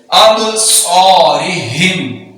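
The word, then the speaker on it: أَبْصَارِهِمْ: व अला अब, साद है तो इसको सीटी के साथ और पुर पढ़ेंगे अबसारिहिम।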